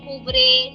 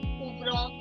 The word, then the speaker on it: ouvrent: Very soon we'll be learning some new verbs where you will learn that the and they is not pronounced. So I'm not saying ouvre, ouvrant, no. I'm only saying ouvre.